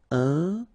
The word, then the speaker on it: incroyable: Incroyable. Okay, same thing here for the final E. Don't pronounce it. So, incroyable.